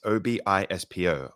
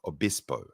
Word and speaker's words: Obispo: moved to I'm gonna do my best to pronounce this s San Louise Obispo that's Obispo Obispo in California where he embarked on a quieter